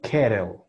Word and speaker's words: kettle: Kero, kero. Tiene que sonar diferente. Kero, kero. O si es con T, ketel, ketel, ketel. Entonces ustedes pueden decidir cuál usar.